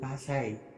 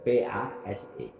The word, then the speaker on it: Pase: Saya heran mulai kapan itu Pase disebut Pasai, ditulis dan diucapkan dengan Pasai. Kami orang Aceh menyebutnya dan menulisnya dengan Pase, P-A-S-E, Pase.